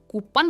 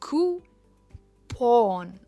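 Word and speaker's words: coupon: काफ़ी सारे लोग इसे कूपन कहते हैं, जो गलत है. इट इज़ कूपन, और जो स्ट्रेस है वो कू पर है. कूपन.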